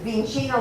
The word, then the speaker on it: vicino: So this one was, the student says, Vicino la tavola. The correct form is vicino. It was a mispronunciation, means near.